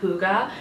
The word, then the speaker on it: hygge: that I'm not the only one that's been pronouncing this wrong for reference basically the book is all about how to create hygge how Google works what is behind it it's